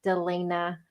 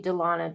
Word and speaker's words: Delena: Delena Delena Delana okay I'm probably gonna continue calling you Delana just it's hard for me to switch um it's been way too long for you to say my name wrong I know I know